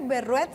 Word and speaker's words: Berruet: No, el apellido es francés. ¿Está bien? A ver, pronúncialo usted, doctora, para que yo no vaya a cometer la misma de Juan. Berruet. Ah, Berruet.